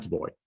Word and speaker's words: Booij: So in Spain, they call me, which is the furthest away from my original name I think you can get. So anything between that and the original pronunciation is totally fine with me. But it's Booij. Booij.